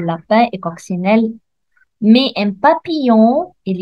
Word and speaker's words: papillon: et coccinelle mais un papillon il y a ici je vois le double l mais je ne le prononce pas elle je me prononce